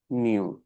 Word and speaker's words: μ: ये लिखा हुआ है इसको प्रोनाउंस करते हैं एस म्यू एम ई यू म्यू pronounce करते हैं इसे एम ई डब्ल्यू μ इट इज अ